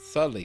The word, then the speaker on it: subtly: It said subtly changed. Not suddenly. Subtly. Wait, why subtly spell like that? Cause that's a B, isn't it? It sounds like it should have a D in it.